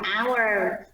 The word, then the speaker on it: hour: Chữ hour là mình không có đọc hết nha, âm hờ không có đọc. Mình sẽ đọc là hour.